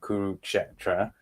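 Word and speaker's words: Kurukshetra: i was very impressed that you nailed the pronunciation of kuruksetra like that's probably the hardest one like and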